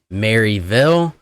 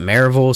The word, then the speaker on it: Maryville: one thing to note here the proper uh pronunciation of Maryville might be Maryville but all the locals call it Maryville so if you refer to it as Maryville